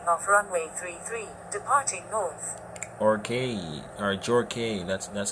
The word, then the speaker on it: Jorge: Jorge, or Jorge, that's how it's pronounced, Jorge.